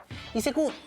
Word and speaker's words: ICQ: ICQ no es una sigla, en realidad es un juego de palabras en inglés, porque ICQ se pronuncia ICQ, algo así como yo te busco.